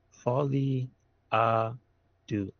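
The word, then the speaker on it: Folie à Deux: It is Joker Folly Do is how it's pronounced.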